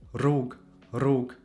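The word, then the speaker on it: rrugë: So this pronounce this is always pronounced trilled like R. This does not necessarily exist in English. Maybe in some dialects I'm not sure actually but it does exist in Italian or Spanish for example there we also say R.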